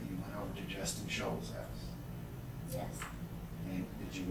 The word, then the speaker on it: Scholes: Justin Scholes? Yes. Is that S-H-O-A-L-S? I don't know how to spell that.